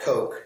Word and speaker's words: Coq: So we can use something like Coq, C-O-Q, and yes, for those who are already familiar, I'm pronouncing it.